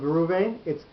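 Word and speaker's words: ראובני: the people of Reuven, it's Reuveni. The aleph completely disappears. It's there. You don't pronounce the aleph at all because it's got no shva under it. It's got no chataf patach. It's got no patach. It's no kametz. There's no nekudot under the aleph.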